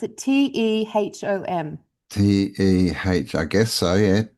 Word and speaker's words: Tehom: has a name, Teom. Is that how you pronounce it? Tehom.